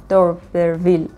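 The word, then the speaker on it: d'Urberville: و کتاب آخرمون تست دوربرویل تست آف دوربرویل اینجوری می‌خوننش.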